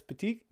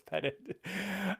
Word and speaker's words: Petit: So today we're talking with Thomas Petit. Tried the French pronunciation this time instead of just saying Thomas Petit.